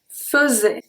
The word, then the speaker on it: faisais: So we have je faisais. Je faisais. Faisais. Okay? Faisais. I don't say faisait. Faisait. I say faisait. Faisait. So here, the AI before the S is going to be pronounced E.